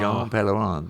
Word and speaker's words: Jean Pellerin: But it's like Jean Pellerin rhymes. Sure. So when people couldn't say, well, what? Dom Perignon? No, it's Jean Pellerin. But the thing is, I had to get people to say my name right.